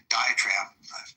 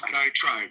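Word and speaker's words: diatribe: Um, and by the way, the more I think about Dioenesis, diet trade, um, diet trap, how do I pronounce that? Diet tribe.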